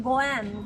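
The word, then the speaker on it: 五円: And because we pronounce this 5 yen goen, goen also means good relationship.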